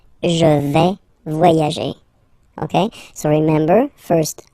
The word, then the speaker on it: vais: Okay, first person here, je vais. Remember, final S not pronounced. Je vais. Okay, tu vas.